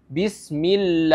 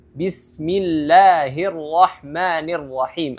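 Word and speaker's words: بسم الله الرحمن الرحيم: itu tidak sepanjang itu atau contonya lagi bismill itu salah itu terlalu panjang jadi cara membaca yang benar adalah Bismillahirahmanirahim atau ibrimu jadi lebih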